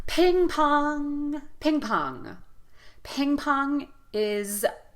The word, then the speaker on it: ping pong: the word ping pong we're going to give equal stress to both syllables here so we're not going to feel that strong and weak ping pong ping pong both vowels